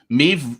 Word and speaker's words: Maeve: touch with mr hogden maeve rhymes with dave is that actually me